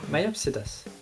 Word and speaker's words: Myopsidus: Is that how you pronounce it? Myopsidus? Yeah, Myopsidus.